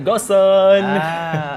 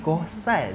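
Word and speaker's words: Gohsong: Ha kita berada sekarang dekat Goson. Betul ke sebut Goson? Itulah saya sebut a G O H S O N. Goson. Tapi sebenarnya kan kalau ikutkan pronounce dia adalah Gohan.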